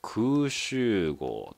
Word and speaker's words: 空集合: なマークやねこれで空襲号と読みます空襲号って結局